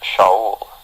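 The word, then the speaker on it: שאול: The name Saul is from the Hebrew word pronounced Shaul.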